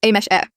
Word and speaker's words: Ames: It's pronounced as a mesh e.